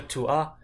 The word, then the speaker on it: tu as: For example, here, tu as, I'm only really saying the A explicitly. You can't really hear an S.